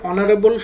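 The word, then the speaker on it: honourable: dash অনারেবল ম্যান এখানে অনারেবল শব্দের উচ্চারণে এইচ উচ্চারিত হয়নি বরং এইচ এর পরে যে ভাওয়েল ও আছে এটি উচ্চারিত হয়েছে তাই আমরা এখানে নিয়ম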